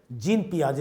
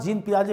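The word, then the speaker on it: Jean Piaget: psychologist cyclone child psychology जिन पियाजे ए जाता है क्योंकि इसका स्पेलिंग लेकिन एक्चुअल स्पेलिंग जीन पियाजे होगा यह द तो स्विट्जरलैंड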